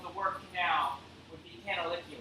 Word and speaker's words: canaliculi: Latin diminutive of the word canal would be canaliculi. Right? So it's a Latin term. This means teeny tiny canal. And how do you remember it? Canaliculi. I don't know. It's like a phrase. Canaliculi.